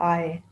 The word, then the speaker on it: I: साथ कैसे बनेगा और हमेशा याद रखें कि आई इसको बोलना प्रोनाउंस करना है आई नहीं कहना आई डू not purchase peg ऐसे नहीं आई नहीं बोलना आय आय यानी आप आंखों से